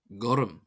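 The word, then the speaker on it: gorm: Gorum meaning blue. Goum. Gum. The color blue. This is pronounced as if it were spelled G O R A M.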